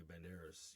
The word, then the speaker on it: Banderas: You know, it it would be really cool to tell for Jamie Fox to tell Antonio Vanerys, you know, the D is silent.